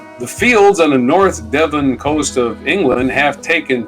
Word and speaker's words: Devon: is how you say it on the North Devon Coast in England sorry what that Devon is